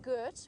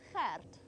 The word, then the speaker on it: Gert: It's that G sound. So it's not Gert, we don't say it Gert, it's Gert. And you have to roll your R slightly to get it absolutely right.